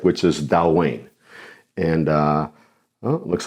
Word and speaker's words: Dailuaine: Dailuaine. Dailuaine. Dailuaine. Yes, just like it's spelled.